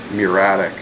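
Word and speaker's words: muriatic: M u r i a t i c pronounced muratic acid natural gas.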